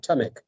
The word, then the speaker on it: Tamek: His name is Mohamed Salah Tamek, or Tamek. Say your name for me, Mohamed. I want to make sure I say it right. Yes, it is right. Tamek. Tamek, okay.